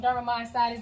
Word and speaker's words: dermatomyositis: It's called dermatomyositis, And it's funny because I pronounce it dermatomyositis, and if you ever look it up, that's how it looks. But when the doctors pronounce it, they add all these syllables in, and I'm like,